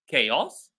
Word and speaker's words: chaos: So the first word was chaos. C pronounced K.